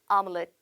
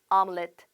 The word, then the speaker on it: omelette: 자, 발음 omelette, omelette, 오믈렛 이런 느낌은 아니죠. omelette. 한 번 더 omelette.